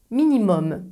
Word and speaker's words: minimum: Les mots d'origine latine qui finissent avec U plus M ne se prononcent pas un comme parfum, ils se prononcent homme comme pomme. Voici quelques exemples. Minimum, maximum.